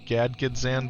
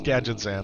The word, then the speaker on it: Gadgetzan: Used to pronounce it Gadgzan back in the day, too. Gad Gadgetzan. Yeah, it's Gadgetzan.